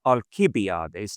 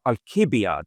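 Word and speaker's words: Alcibiades: um fedus um alibiades in good Latin pronun pronunciation alibiades not ali uh alibiades is unusual and then Hipparus and then Amato.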